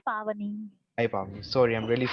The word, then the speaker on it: Pavani: It's Pavani. Hi Pavani. Sorry, I'm really sorry for mispronouncing your name.